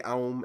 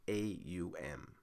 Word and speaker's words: AUM: multi-channel audio interfaces now some people pronounce this app in different ways some say oh and other pronunciations like that but we're just going to stick to saying it out by spelling the letters with a um so